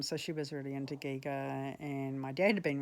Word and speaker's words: Giger: like it's not Geiger it's Giga Jesus and um uh yeah